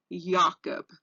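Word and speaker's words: Jakob: the mad cow disease it's pronounced CRZ spell yakob so it's pronounced differently than it's than it looks whoit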